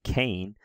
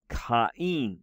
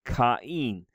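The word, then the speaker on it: Κάϊν: So this name, the name of, we would say the name Cain, but in Greek it's pronounced Kain, right? Kain.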